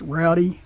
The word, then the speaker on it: Roddy: today we have um I think you pronounce this Rowdy r o d d y it's Rowdy engineered I'm pretty sure this